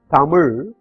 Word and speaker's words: Tamil: This can be split into three syllables. The first syllable has a consonant T and a vowel A. The second syllable has a consonant M and a vowel I. whereas the last syllable is a consonant without a vowel. That's why it has to be pronounced with a stop. That is, it ends there.